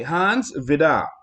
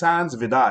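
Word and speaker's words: Hans Vide: And so it was signed by Hans Vidar, and that's how you pronounce it. It's spelled V-I-D-E, but it's Hans Vidar.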